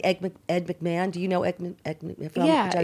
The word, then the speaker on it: McMahon: look what Ricky made you can't say Edie Ed McMahon Ed McMahon ah because man and mama have the wrong amount of syllables its Ed McMahon could you excuse us